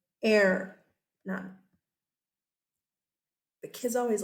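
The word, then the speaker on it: Hernán: What I can tell you is the H is silent. Air, none.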